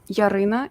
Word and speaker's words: Yaryna: having me here my name is yarina uh yarina in Ukrainian but um I'm 25 years old